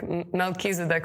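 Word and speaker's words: Melchizedek: That's very interesting fact because in English we pronounce it like Melkisedc.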